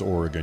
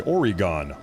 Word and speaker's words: Oregon: You know, I don't feel so bad because none of you guys can pronounce Oregon. You say Oregon.